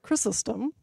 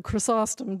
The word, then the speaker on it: Chrysostom: favorite prayers is um a prayer of chrysostom or chrysostom depending on your pronunciation preferences and he uses the